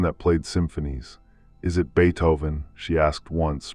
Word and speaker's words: Beethoven: "Is it Beethoven?" she asked once, pronouncing the first part of the composer's name, "Not ba, but be like the insect."